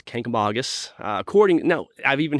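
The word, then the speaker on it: Kancamagus: How do how do visitors pronounce it? Uh, wrong. Uh, mostly it's Kangamangus. Kamangus is what they say. Kangamangus. Kamangus. Uh but it's Kkamagus.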